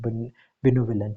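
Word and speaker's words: benevolent: ठीक है, जब भी आपको प्रोनाउंसिएशन में मसला हो तो इसको ब्रेक डाउन किया करें, बी नी वुलेंट, वो लेंट।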